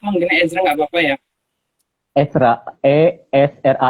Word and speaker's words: Ezra: Ezra atau Ezra sih? Aku manggilnya Ezra nggak apa-apa ya. Esra, Esra dibacanya. Ditulisnya Ezra, dibacanya Esra. Berbacanya Ezra.